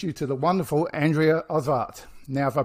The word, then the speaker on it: Osvart: to the wonderful Andrea of art now if I pronounce your surname correctly hi good morning everyone thank you David uh I pronounce it osbart Andrea oswart awesome awesome I have